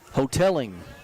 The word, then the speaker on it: Hoteling: Hoteling. Hoteling is how we say that name.